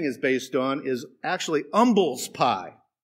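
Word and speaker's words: umbles: based on is actually umbels pie the H is not pronounced it's a meat pie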